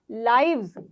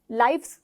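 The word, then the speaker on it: lives: लाइफ, जिंदगी, जिंदगियां, लाइव्स, लाइफ्स नहीं बोलोगे। प्रोनाउंसिएशन आपकी ये नहीं होनी चाहिए, लाइफ्स नहीं, लाइव्स, लाइव्स, ठीक है।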